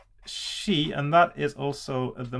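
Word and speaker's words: し: spelling as well but it's always pronounced as she and that is also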